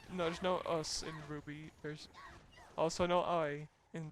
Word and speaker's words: RWBY: No, there's no us in RWBY. There's also no I in RWBY.